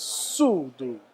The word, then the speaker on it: Sudo: So it's speed and tempo in Chinese, and the Sudo. correct pronunciation is Sudo.